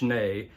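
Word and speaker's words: Schnee: hearing a lot of talk about Bill schne pronounced schne an engineer who was working at a studio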